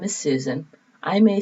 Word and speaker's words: Susan: well my name is susan i may say susan s-u-s-a-n some people hear my name as suzanne which is spelled differently so i know i'm